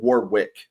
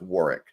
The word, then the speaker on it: Warwick: I always said Warwick Davis, and I just recently found out it's Warwick, and I feel like a dick for saying his name wrong for years.